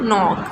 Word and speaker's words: knock: KN, night, no, new, knock. So here K is silent.